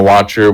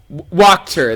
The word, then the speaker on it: Wachter: and he mentioned Fiona Watcher, which was like one of the noblewomen who wasn't exactly. Wait, so is her she name didn't like Watcher or Wachter? Wachter. That was me mispronouncing and reading wrong.